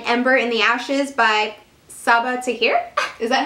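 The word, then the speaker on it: Sabaa Tahir: and say an ember in the ashes by saba tahir is that how you say it yes number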